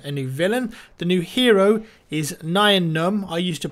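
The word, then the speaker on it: Nien Nunb: and a new villain the new hero is Nayan um I used to pronounce it nyan um but apparently des told me that he was talking to like Lucas and they confirmed you actually say it 9 none so that's the right way to say it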